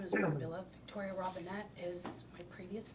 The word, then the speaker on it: Brambilla: My last name is Brambilla. Victoria Robinette is my previous name. Tell me, how do you say it again? The last name, B-R-A-M-B-I-L-A, Brambilla.